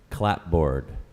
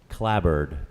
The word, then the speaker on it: clapboard: homonym and several pronunciations the primary pronunciation is collab it's also pronounced clapboard or claw board but clabber is the preferred pronunciation could you give me